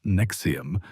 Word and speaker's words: NXIVM: The new name, pronounced Nexium like the heartburn medication, is N X I V M.